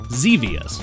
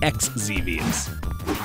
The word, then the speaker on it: Zeus: starting with an X this game is actually pronounced zus not xzeus the same is true